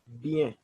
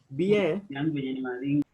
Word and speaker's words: bien: So you can say the response can be fine, which in French we can use bien. Bien. Bien, that means you're saying I'm fine, bien. So we are going to pronounce the words for bien, that is B-I-E-N.